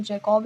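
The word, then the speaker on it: Jacobi: Paediatric का जो father है वो अब्राहम जैकोबी। जैकोब इसमें नहीं जैकब बोलेंगे क्योंकि आई इसमें साइलेंट रहता है।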